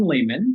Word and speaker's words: Leamon: And today I'm with Leamon. Did I pronounce that right? You got it right.